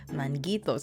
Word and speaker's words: Manguitos: So, I was saying it right the second time. Manguitos.